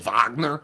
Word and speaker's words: Wagner: MO Mo Vagner well I know it's Mo Vagner I just want to know how to say